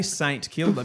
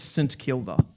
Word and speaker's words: St Kilda: I'm not I know I know people I know I know I know people say St. Kilder, but it's wrong. As in if you're talking about the the suburb. Yeah. The suburb is St. Kilda.